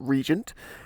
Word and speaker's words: RGNT: one classic SE so rgnt is a Swedish company you pronounce it Regent and I should say